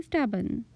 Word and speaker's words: stubborn: it don't be stubborn R is silent here so we say don't be stubborn Z tuck your shirt